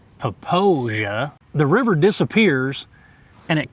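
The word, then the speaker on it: Popo Agie: This river that flows beside us is called the, It's- I would say Popo Aggie. Yeah, it's spelled that way. I think the correct pronunciation might be Poposia.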